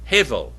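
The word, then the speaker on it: הבל: Unto Abel. Hevel is how you say it.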